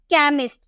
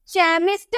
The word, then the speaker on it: chemist: उसी तरह से CHEMIST, सी के बाद आपको एच देखने को मिला, तो इसे हम क में प्रोनाउंस किए, कैमिस्ट। चैमिस्ट हम इसलिए नहीं पढ़ेंगे, हम बोलेंगे कैमिस्ट।